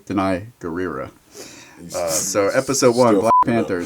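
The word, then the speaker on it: Danai Gurira: for the last episode i've been telling you how to say it for weeks deny right and look i put it in parentheses how to pronounce it actually actually deny guerrero so episode one black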